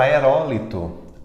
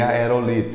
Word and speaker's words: aerólito: Outro exemplo é a palavra aerólito, aerólito, que por conta do Chapolin Colorado, nós queremos dizer aerolito.